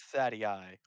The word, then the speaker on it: Thaddeus: pronounced Thaddeus.